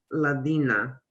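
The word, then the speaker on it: الذين: The Z, like the new pronunciation Z, was point on. It sounded to me, it was like, like nail in the head, mashallah.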